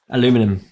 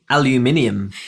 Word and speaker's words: aluminium: americanism so I have no idea no clue aluminum no that's the way I say it how how is what's the other pronunciation of it aluminum Alum I don't know